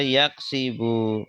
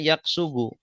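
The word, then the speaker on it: يَكْسِبُ: Kalau fa'ala yaf'ulu nanti bacanya yaqsubu. Kasaba yaaksubu. Nah ini enggak ada. Enggak ada. Jadi adanya yaksibu.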